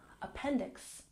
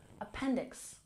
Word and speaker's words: appendix: back at pronunciation appendix we stress the second syllable appendix appendix one appendix and to